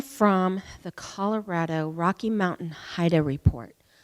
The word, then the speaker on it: HIDTA: the Colorado Rocky Mountain HIDA report HIDA is spelled HIDTA it's an acronym for high intensity drug trafficking area that's a mouthful the